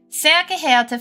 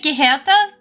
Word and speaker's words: geehrte: Sehr geehrte Fahrgäste. Do you mean geehrte? Wait, am I pronouncing it wrong?